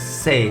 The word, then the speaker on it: C: c in english but in german it's pronounced as say like in cell if you remove l it's cell so say